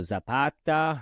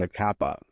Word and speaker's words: Zacapa: Thank you for Zapata, right? Pronounce it right? Zacapa. Highly suggested. Ron. Zacapa. Zacapa. Zapata was the revolutionary.